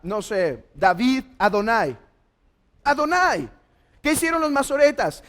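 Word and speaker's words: אדני: Esta es una Holem, es un AO, y esta es una A y una I, Adonai.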